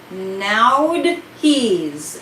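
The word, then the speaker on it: Nauthiz: the energy of the week this room is pronounced nowd he's now he's it's spelled n-a-u-t-h-i-z that have to do with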